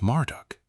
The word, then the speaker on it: Marduk: Beltazar, pronounced Belt Shazar, likely invokes Bell, pronounced Bell, the Babylonian god, also known as Marduk, pronounced Marduk.